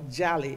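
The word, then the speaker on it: jeli: The word for griot in the Mandinka language is jelly or jali, as is pronounced in the Western region, and it literally means blood.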